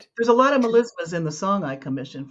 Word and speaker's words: melisma: Um, which genre typically uses mema? I hope I'm saying that right. A single syllable stretched over many notes. Is it country, rap, classical, or pop? Classical. Melisma.